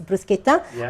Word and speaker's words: bruschetta: a smoothie smoothie bowls bruschetta if you're Italian a bruschetta is the right way of pronounce it is bruschetta with different type of